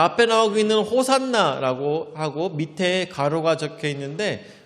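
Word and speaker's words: ὡσαννά: V처럼 생겼는데 저건 니라고 하는데, V처럼 생겼지만 니라고 해서 니은 발음입니다. 그래서 호산나.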